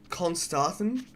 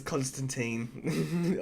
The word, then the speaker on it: Constantin: with his name is I think it's pronounced Constantin but I always pronounce it as Constantine but there's no e on the end but I'm pretty sure it's pronounced Constantin um but I always read